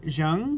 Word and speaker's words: Zheng: My name is with the one and only Cindy Zheng, right?